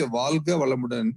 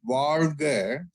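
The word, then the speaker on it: Vazhga Valamudan: When you do a wrong way of pronouncing it, say Valga Valamudan, it touches the front part of your upper palate. But when you actually do properly Valga, it touches the deep inside the upper part of the palate, which activates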